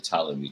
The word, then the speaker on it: Ptolemy: the first married the ptolemy defeat it's holding me the fifth i keep putting the p in it because i hate silent letters i'm sorry i actually